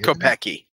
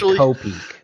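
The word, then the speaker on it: Kopeke: I've always gone with Kopeki. Kopeki, yeah. Well, that's what I say in my mind, but I mean, it's like how you say Wednesday. It's Yeah, it's true. The official pronunciation is Kopik.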